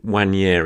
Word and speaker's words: Nwaneri: video and about Ethan when yerry I think it's pronounced there's a silent n there's plenty of people have told me on him so I think it's one year he obviously record breaker just an unbelievable 50.